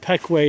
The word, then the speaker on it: Pequea: train line took down on its way to peckway i believe and it's pronounced peque not piquia spelli says one thing but looks